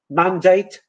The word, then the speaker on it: mandate: So the word template, mandate are pronounced with a.